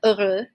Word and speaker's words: heureux: Which is related to this adjective heureux, heureuse, oui, okay? And just another note with this, we do not pronounce the H at the beginning, okay? So it's actually silent.